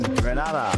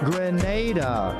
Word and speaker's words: Grenada: So, today, like we German say, we are in Granada, but I heard in English it's called Grenada. Say it right. Grenada. Say it right. That's right. There we go. It's not granada.